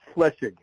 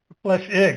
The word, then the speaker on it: Flechsig: And if you just say flesh, like the flesh of your skin, and ig, Flechsig. Flechsig.